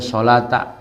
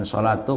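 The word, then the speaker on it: صَلَاةَ: Jadi bacanya solata, bukan solatu, bukan solati. Karena menjelaskan bardain.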